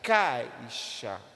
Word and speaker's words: caixa: caixa geralmente o caixa o i ele é pronunciado de maneira um pouco mais fraca não é verdade caixa caixa há há um